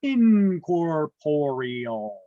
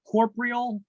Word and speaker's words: incorporeal: it is intangible or incorporeal these are pronounced not Corporal or incorporeal it's in corporeal there's another o in there Corporal I had a